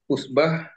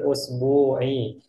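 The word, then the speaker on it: الأسبوع: Tadi gimana cara bacanya? Kam yauman ya'malu fi fil fil usbah fil fil usbah fil usbu'i. fil usbu'i. Fil usbu'i. Ahsanta. Jamil.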